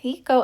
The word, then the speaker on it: picot: So this is the right side of my skirt, and the pico elastic, it's spelled picot, the pico elastic is facing down, the decorative edge is facing down.